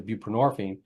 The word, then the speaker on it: buprenorphine: a switch made to buprenorphine which is um actually called Suboxone that was a combo thing it's um nxone and ponor and borine rhymes with morphine um and is a